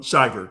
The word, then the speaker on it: Shiver: Because I'm saying Pa Shiver. Um, Shyiver, you're saying it right. Shyiver.